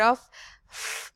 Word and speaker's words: of: And the other one instead of F, it's V. So you're going to pronounce it like off, off, right?